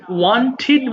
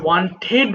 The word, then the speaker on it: wanted: আচ্ছা সবাই দেখো, ওয়ান্ট মানে চাই, ওয়ান্টেড মানে চেয়েছিলাম। এই উচ্চারণটা আমরা অনেক সময় ওয়ান্টেড বলি, বাট এটা হতে হবে ওয়ান্টিড। ওয়ান্টিড, কারণ শব্দের শেষে যদি টিডি থাকে তাহলে সেটাকে আমরা ওয়ান্টিড বলবো।